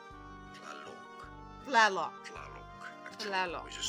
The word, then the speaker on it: Tlaloc: The Nahuatl pronunciation is as Tlaloc.